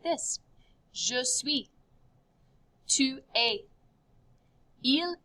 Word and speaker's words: es: Tu es. It's just pronounced A. Don't say the S.